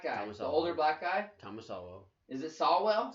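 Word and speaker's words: Sowell: the older black guy thomas alvo is it sawwell sawwell yeah that's who should be our president why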